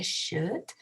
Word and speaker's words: should: Ese should no se pronuncia la L, se pronuncia should y trabaja de esta manera.